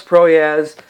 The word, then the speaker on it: Proyas: I wasn't always sure how to pronounce his last name. That's why I had to look. But yeah, Alex Proyas really did a good job with the cinematography and the directing of this movie.